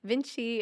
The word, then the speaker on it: Vinci: Vinci is spelled cool. It's VNC CI, but it was pronounced after Leonardo da Vinci.